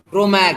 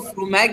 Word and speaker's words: fromage: Last का ई silent कर दो। फ्रोमैग है ना, हम इसको फ्रोमैग की जगह बोलेंगे फ्रोमाग। Repeat once again, फ्रोमाग।